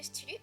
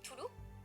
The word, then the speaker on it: Cthulhu: Il s'agit de L'Appel de Cthulhu ou Toulouse, dépendant de comment vous prononcez, de Lovecraft, illustré par François Barranger.